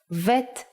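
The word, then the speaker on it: ב: it looks like this pay attention to the dot it has to be in the middle the print version is like this if you leave out the dot bet becomes vet the sound of vet is V but we don't count vet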